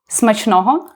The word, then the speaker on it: smachnoho: So, and you can just say smachnoho, which means bon appetit in Ukrainian. So smishno? Smachnoho. Smashnoho? Super, good pronunciation.